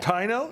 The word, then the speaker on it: Taino: She's from, how do you pronounce it? We've had you guys on before. Taino or Taino? I believe it's Taino. Taino?